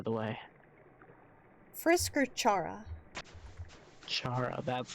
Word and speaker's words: Chara: way Frisk or Chara Chara that's how okay that's at least how I say it me personally I always say Cara like car room vom and then